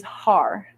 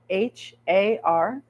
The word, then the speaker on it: har: one the word is har h a r har we pronounce it by Rolling the r a little bit so the r when